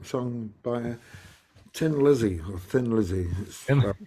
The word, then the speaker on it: Thin Lizzy: by Tin Lizzy or Thin Lizzy it's about that but it's pronounced Tin Lizzy because they're Irish in the song The